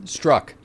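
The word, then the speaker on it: Strzok: of what's-his-name strong strength struck absolute your name is pronounced struck it's pronounced struck yeah yes I saw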